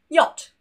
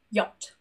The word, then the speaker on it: yacht: For example, yacht. No C, no H, both silent, just yacht.